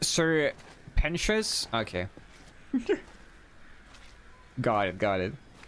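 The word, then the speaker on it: Sir Pentious: It's pronounced Sir Pentius.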